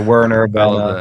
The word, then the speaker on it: Werner: would be Werner and if you would go German it's like Vienna what do you prefer yeah so do anything goes like a Werner whatever you want to